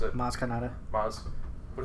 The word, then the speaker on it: Maz Kanata: Yeah, but also like now Maz, whoever, how you pronounce it, Maz Kanata. Maz, but it's spelled M-A-Z. Dude, It's Star Wars. It's Star Wars. Yeah. fuck, I just had it written. But Maz tells her about the Force.